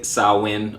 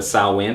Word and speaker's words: Samhain: about definite possible pagan roots particularly the gaelic salwin all right it looks like samhain but sauwan pronounced salwin you're gonna hear that a couple of times